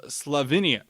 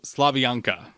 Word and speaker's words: Slavianka: patriotic march called called farewell of slavinia nope I Mis pronounce that farewell of slavianka there we go although I will say